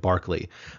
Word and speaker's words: Berkeley: uh the the bishop Barkley um it's spelled it's pronounced uh uh Barkley the way you know like like the you know the NBA commentator personality Charles Barkley say the same but